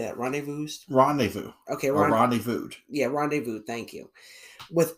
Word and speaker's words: rendezvoused: Okay, rendezvoused.